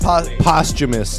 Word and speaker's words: posthumous: Posthumous.